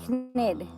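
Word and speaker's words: Knid: "It's vermicious vermicious nid nid vermicious nidy. I know I'm not supposed to pronounce the k.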